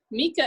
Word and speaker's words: Mieke: name is miss mika mika is a dutch name and most people don't know how to pronounce it when they first meet